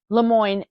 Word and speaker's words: LeMoyne: it has more historically been known as is Lemoine and it's spelled l e capital m o y n